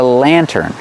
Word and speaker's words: lantern: This is called a lantern pronunciation LAN turn Lantern put the stress on the first syllable this is a lantern